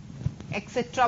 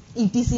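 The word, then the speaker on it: et cetera: एक्सेट्रा बोलते हैं इसे हम, ईटीसी नहीं बोलते हैं. ईटीसी कभी भी प्रोनाउंस नहीं करोगे आप लोग स्पीकिंग में. You want B pronounce ईटीसी, you have to pronounce एक्सेट्रा. Clear?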